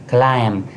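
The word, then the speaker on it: climb: क्लाइम। क्लाइम के अंदर बी जो है ये हमारे पास साइलेंट है।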